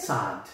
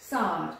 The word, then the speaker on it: Saad: I know it's Dr. Saad. Is that how you pronounce it? Saad. Saad. Saad. Saad. Saad. With a double A.